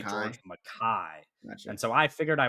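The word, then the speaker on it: George MacKay: I think George McKay is the American pronunciation, but he is English and so they say George Mai and so I figured I would use the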